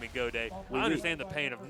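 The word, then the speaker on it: Gaudet: And you hear Godet, and you think it'd be spelled G-O-D-A-Y. Why not? Right. But it's spelled G-A-U-D-E-T, so everybody thinks it's got it, but it's not.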